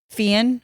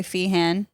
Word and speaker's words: Feehan: pronounce your last name fan or you can say fehan do Americans say fehan yeah I slow it